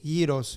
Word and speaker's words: gyros: Like with the Y. Imagine Y-E-E. Gyros.